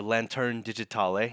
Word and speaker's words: Lanterne Digitale: Serge is the CEO and Chief Creative Director of Digital Lantern, or Lanterne Digitale, and I'm sure you'll have to say the French pronunciation better than myself.